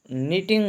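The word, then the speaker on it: knitting: जी बुनाई वाली सुई नीटिंग नीडल यहां पे के साइलेंट है चिराग लैंप चटाई मैट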